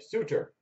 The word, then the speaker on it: Suter: another rookie of solder i said suitor sorry suitor ryan suter national predators like on the back of the uh card they actually did the pronunciation i feel like you